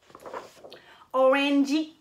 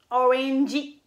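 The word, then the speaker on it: オレンジ: C'est la même chose aussi avec l'orange, en anglais orange, OK? Donc, ils vont dire orangey, orangey, orangey.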